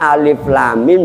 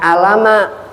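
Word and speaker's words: الم: Contoh, jangan sampai ibu bapak membaca alif lam mim bacanya alama.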